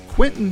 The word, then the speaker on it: Quinten: used by permission from Quentin Hope. Quentin is spelled Quinten, and Hope is Hop as in Paul, E.